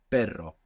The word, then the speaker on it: perro: per and then pero you keep that in the same position that you are using to make that Spanish R which is kind of a little bit more pronounced than the r English sound but you pass a little bit of air over it and you let that flick it perro perro now like I